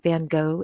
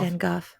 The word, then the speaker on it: Van Gogh: Van Gogh. Yeah, it's Van Gogh.